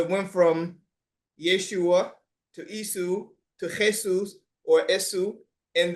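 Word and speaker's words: Ἰησοῦς: because there was no, they couldn't pronounce a sh, a sound, SH or sheen sound. So they transliterated it into a language where they were able to actually pronounce. So they would say Isu. Yep. And Isus.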